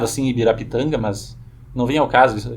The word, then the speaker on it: Ibirapitanga: Já tínhamos Ibirapitanga. Aqui eu estou usando uma pronúncia portuguesada, certo? Em tupi não seria pronunciado assim Ibirapitanga, mas não vem ao caso explicar isso aqui agora.